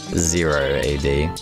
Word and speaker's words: 0 A.D.: Sorry, the correct pronunciation is Zero AD. Which is fair enough, because O can also mean the letter O. Whereas zero can only mean zero.